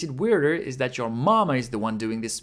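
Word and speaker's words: ま: flame then we have ma ma is pronounced like the English word ma meaning mother in other words it sounds like ma in Mark how to remember ma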